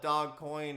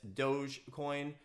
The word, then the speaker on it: Dogecoin: are asking me about dogecoin some people call it dog coin and all different things but uh it appears that it's doge coin um so if that's